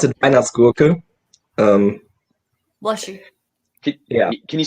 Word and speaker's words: Weihnachtsgurke: Yeah, we would pronounce it Weihnachtsgurke. Bless you. Yeah. Can you say that again? For us dumb Weihnachtsgurke. Americans. Weihnachtsgurke. Vine with a V.